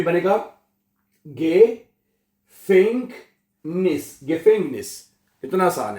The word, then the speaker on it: Gefängnis: जो ई है इसको ए पढ़ा जाता है। क्या बनेगा? गेफेंगनिस, आ उमलाउट है। गेफेंगनिस जेल में, गेफेंगनिस है, ओके। तो er ist unschuldig, वो बेकसूर है इन गेफेंगनिस जेल में।